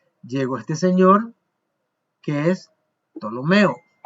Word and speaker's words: Ptolomeo: señor que es Ptolomeo, porque la P no se dice en español, hay un chiste pero no lo voy a contar, ¿verdad? Entonces Ptolomeo en portugués sí, en Brasil les dicen psicólogo, ellos dicen Ptolomeo, sí, ellos pronuncian la P, pero en español nosotros no.